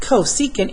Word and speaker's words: cosecant: else is negative so I know that CSC pronounced cosecant is reciprocal of s so the Cs C